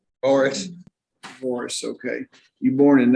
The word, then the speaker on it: Boris: name how do you say your last name Boris Boris okay you born in 1991.